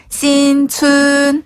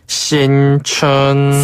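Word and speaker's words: 新村: 뭐라고 합니까 신촌 맞아네 신촌은 새로울 신자를 신이라 발음 하거든요 그래서 거기 뒤에다 춘 자만 붙여주면 신촌이 되는데요 신춘 신춘 신춘 신춘이라고 해요 어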